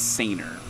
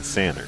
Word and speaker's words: Sainer: Ronnie corrected me on the pronunciation of his last name at the last competition. Yep. I believe it's Sainer. Ronnie Sainer. Because we were saying Sanner. I think we were saying Sander, so I apologize, Ronnie.